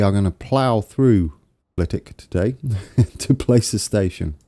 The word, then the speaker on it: Flitwick: It is pronounced Flitwick. It's a silent W. And for that, we are going to plough through Flitwick today to place a station.